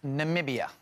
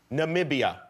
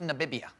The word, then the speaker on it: Namibia: from what country it's really hard country to pronounce Namibia Namibia yes who says it wrong all the time everyone goes in the bib eeeh no sir Namibia yeah visited Namibia yet see you just did